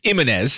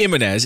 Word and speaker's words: Ximénez: It's spelled X I M E-N-E-S. It's Jimenez. It's definitely Jimenez. It's just what the X does.